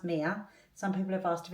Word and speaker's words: Mia: stuff like that so first of all it's pronounced Mia some people have asked if it's Mia or Maya we knew from pretty much when we first